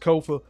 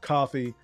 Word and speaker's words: Kofa: I have been your humble host, Kofa, K-O-F-A, not coffee, not, not Kofi, or any variation thereof. Kofa rhymes with sofa.